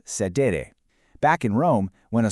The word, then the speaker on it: cedere: Our master key is actually a Latin verb, cedere, pronounced sedere.